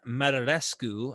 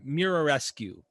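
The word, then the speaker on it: Muraresku: for the show is Brian marlescu I think I'm pronouncing that right it's Mira rescue technically and he wrote a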